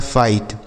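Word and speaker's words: fight: यहाँ पर भी हम इसे आई ही पढ़ेंगे, जैसे यफ से हो गया फ, आई का उच्चारण आई और GHT से ट पढ़ा जाएगा, लिखा है फाइट, ठीक है।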